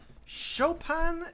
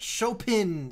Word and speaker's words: Chopin: little bag little Chopin Chopin it's almost bug me that it's pronounced like an a when it's an i but show pin sounds awful Hokkaido where boys are